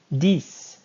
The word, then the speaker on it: dix: Dix. Dix and six rhyme.